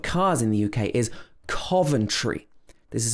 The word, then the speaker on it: Coventry: in the uk is coventry this is not carve it's not cove but cove then tree with the difficult tr combination in the middle coventry coventry this one is